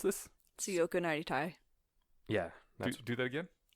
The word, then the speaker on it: Tsuyoku Naritai: So, Alrighty, on to, do you know how to pronounce this? Tsuyoku Naritai. yeah, Do that again? Tsuyoku Naritai.